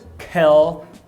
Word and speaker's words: kill: Quando você vai pronunciar a palavra matar, que é kill, o L, a gente fala que ele é velar. Por que velar? Porque o dorso da língua sobe e você não tem